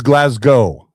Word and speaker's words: Glasgow: It is Glasgow. There you go. There you are. All right. Yep. Thanks, Marco. Glasgow. Well, pronunciation guides to be provided by.